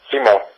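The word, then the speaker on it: Simón: Well, actually, it would be pronounced Simon.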